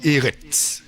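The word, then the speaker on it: ארץ: Alors, ici, Eret. Voilà, il faut. C'est la dernière lettre, c'est un R et c'est un TS. Eret.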